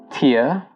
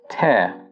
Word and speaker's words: tear: If you're using the noun form of this word, you pronounce it as tear. So for example, when you cry, you shed a tear. But when you're using the verb form of this word, it becomes tear.